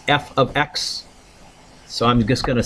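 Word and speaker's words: f(x): kind of rewrite it we pronounce this F ofx so I'm just going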